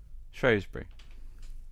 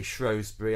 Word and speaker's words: Shrewsbury: section woohoo first word shrewsbury excuse me shrewsbury oh we're so bbc luke and i um shrewsbury is the standardized um way of saying it but of course the locals say both and this begs the